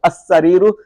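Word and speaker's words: السرير: The minute you see the shadda here, this one. Can you see this one? You know it's huruful shamsiyah. Okay, that means huruful shamsiyah. As-sariru. That means you're not going to pronounce the lam.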